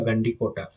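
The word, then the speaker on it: Gandikota: ठीक है, इसको नाम याद रख लेना इसका, गंडी कोटा, गांधी कोटा जैसे भी याद कर सकते हो।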